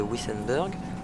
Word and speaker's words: Wissembourg: Enfin, moi je prononce Wissembourg, mais la prononciation réelle en allemand se rapproche plus de Wissenberg.